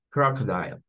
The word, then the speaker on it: crocodile: Nótese cómo las 12 de esta palabra se comportan como una K, como una K. Croc. Luego la O, que está ahí aparte, viene a sonar como un schwa. Croc up. Croc up. Y luego dial es la sílaba final.